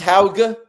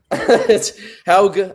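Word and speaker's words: Haugh: I think it's it's Ha. Ha, I think is is how you say it. It's it's a little tricky.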